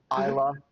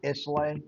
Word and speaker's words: Islay: Isla when I pronounced it Isla. Islay.